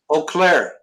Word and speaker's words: Eau Claire: Eau Claire. Just Eau like Claire. a O. Yeah. Even though it's EAU or something. Right. Some French word.